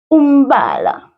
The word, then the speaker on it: umbala: The next part of our isiZulu classroom board is umbala of the week. And umbala is a color. The word color in isiZulu. Let's repeat after me. Ba la ba la. It's 3 syllables.